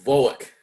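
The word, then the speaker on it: Volokh: How do you pronounce that name, Professor? Bulock. Bolic conspiracy.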